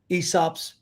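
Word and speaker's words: Aesop's: big on folk tales esops tails they come from a time period where you mean that guy where the a is silent yes so i see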